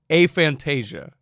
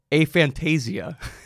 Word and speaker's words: aphantasia: So for the record, aphantasia, or I've also heard aphantasia. That's another way to say it. It's probably somewhere between aphantasia and aphantasia. It's more like a tomato in terms of the pronunciation on that.